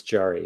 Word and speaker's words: Jari: uh pronunciation jari correct it's jarry yeah yeah i always tell people just imagine a jar full of ease and you'll never mess my name up so i can imagine